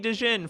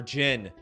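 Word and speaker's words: Djinn: Or Jin. Some people, I'm sure, are like, oh my god, why does he keep pronouncing the D?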